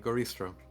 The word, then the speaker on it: goristro: Um, so yes, a goristro.